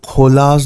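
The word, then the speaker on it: Chola: वो खोलाज नाम के राजा के, चोल साम्राज्य जिसे आप कहते हैं, दरअसल उसका प्रोनाउंसिएशन खोल है, तो चोल साम्राज्य या खोल साम्राज्य के ज़माने से वो तमिलियंस वहाँ रहते हैं।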